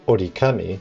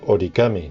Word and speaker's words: origami: One good example is the famous Japanese word origami, where ori means fold and kami means paper, but it's not called orikami, it's called origami due to the pronunciation.